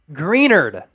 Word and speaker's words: Greenard: rolling in here now greenard Jonathan greenard is the correct pronunciation there more than 400